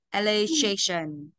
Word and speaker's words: allocation: Allocation, allocation.